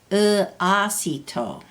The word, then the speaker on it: uasito: He used an O with 2 dots over it for the fish head, and then he writes a line over the A to show it is long. Uasito.